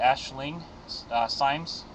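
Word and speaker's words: Aisling Symes: Deborah what information do we have am I pronouncing this correctly Ashling uh Sims yes that's how it's pronounced okay um Ashling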